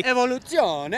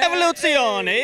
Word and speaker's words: Evoluzione: Well, I'll tell you, this is our Evoluzione, if you're going to pronounce it correctly. Evoluzione. Evoluzione, exactly.